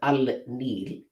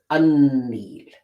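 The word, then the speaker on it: النيل: Now in Arabic, when you combine al with Nil, you will not pronounce it as al-Nil. You will pronounce it as un-Nil.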